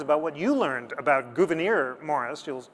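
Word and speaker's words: Gouverneur: Uh, it's Gouvenir. When you're just talking to your friends about what you learned about Gouvenir Morris, you'll call Saturday night.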